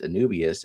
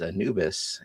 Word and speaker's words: Anubias: of the fact that you Grant pronounced the plant Anubias as Anubis and it hurts.